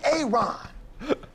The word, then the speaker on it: Aaron: you say it the first time i said a-a-ron because it's pronounced aaron simon you done messed up hey